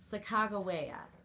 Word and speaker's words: Sacagawea: one that i think is the most accepted pronunciation chicago waya when i looked it up that's what i